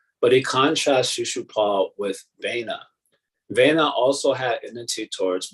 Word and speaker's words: Vena: So Vena, did I say it right?